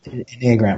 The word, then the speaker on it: Enneagram: I don't even know how to pronounce the name of it. Is it Enneagram or Enneagram? Yeah. Enneagram.